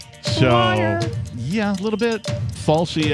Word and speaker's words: Fauci: Falsey, I think, is the correct pronunciation.